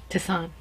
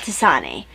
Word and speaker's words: tisane: I can't remember the name of the person who said the pronunciation was Tisan? Tisan. Yeah, not Tisane.